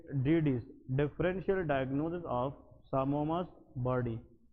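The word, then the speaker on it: psammoma: तो what you will suspect as a doctor, इस finding को हम हिस्टोपैथोलॉजी में सामोमास बॉडी कहते हैं। क्या कहते हैं, सामोमास बॉडीज। इसमें ये पी साइलेंट है, ठीक है जी, दैट इज कॉल्ड सामोमास बॉडी।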